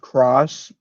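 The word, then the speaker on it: χ: way in the past note that's pronounced Cross by the way um oh yeah the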